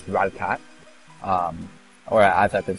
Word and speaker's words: Rattata: I asked a question, episode 1, how to pronounce Rattatat. Or as I've been saying, I've been saying Rattatat all along. But thank you to a friend who watched this video. Supposedly it's actually pronounced Rattatat.